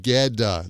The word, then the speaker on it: get a: And we pronounce that geda, like the T sounds like a D.